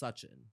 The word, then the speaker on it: Sachin: is it pronounced it's technically pronounced suchin okay but